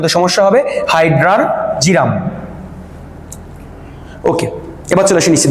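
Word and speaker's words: Hydrargyrum: না কিন্তু আর উচ্চারণটা আমি লিখে দিছি অনেকে উচ্চারণ সমস্যা হবে হাইড্রারজিরাম ওকে এবার চলে আসি নিচে দেখি আমরা এটা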